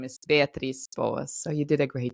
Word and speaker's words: Beatriz Boas: So my name here, usually people pronounce it like Beatriz, but the right way to pronounce my name is Beatriz Boas.